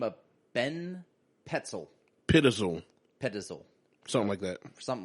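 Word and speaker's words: Pitezel: We got a gentleman by the name of Ben Petzel. Pittizel. Something like that. So I believe it's pronounced Pittizel.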